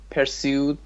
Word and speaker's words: pursued: Pursued by the police. Second syllable, yes. Pursued.